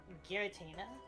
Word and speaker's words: Giratina: What about Giratina or Giratina? Giratina? I thought that was a joke. I've heard that's a joke before. It's definitely Giratina.